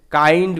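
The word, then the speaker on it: kind: Thank you, ধন্যবাদ তোমাকে, কাইন্ড Goodge, কাইন্ড কথার অর্থ হচ্ছে দয়ালু, আই এন ডি থাকলেই কিন্তু আইন্ড এরকমভাবে উচ্চারণ হবে, তাহলে কে আই এন ডি, কাইন্ড এরকমভাবে উচ্চারণ হচ্ছে।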